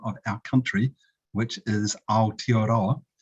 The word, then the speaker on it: Aotearoa: much for that introduction and accommodations on excellent pronunciation of the original and Indigenous name of our country which is aotearoa it's also an official name and uh our